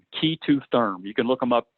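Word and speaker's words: K2therm: called Keita therm and the way you spell that at the capital K lowercase e the number two and then therm key to therm you can look them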